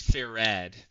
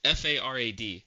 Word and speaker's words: farad: It's ferad. It's f a r a d. Farad. Sorry. Not like the animal.